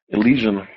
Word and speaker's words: Elysian: How do you pronounce that? Elysian.